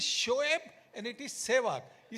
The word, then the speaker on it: Shoaib: And for Shoaib, it was always Soeb. And in the change room, I would keep on saying, Murli, it is Shoaib and it is Sehwag.